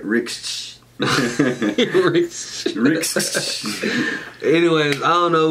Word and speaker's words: Rixh: Yeah, I say Rixh with an X. You know what I'm saying? He said Rixh. But it got an H on the back, so say it right. Rixh.